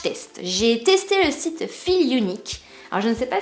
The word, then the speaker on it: Feelunique: J'ai testé le site Feel Unique. Alors je ne sais pas si vous connaissez, je pense que ça se prononce comme ça parce que là c'est écrit Feel et là c'est écrit Unique.